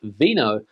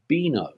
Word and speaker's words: vino: is pronounced thetha thetha the letter V here in Spain is pronounced like a soft B for example this word here is not pronounced Vino but boino know and when you